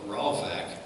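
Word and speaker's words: ravach: Actually, the Bible used refreshed, and that's a word pronounced ravak, and it literally means to breathe freely.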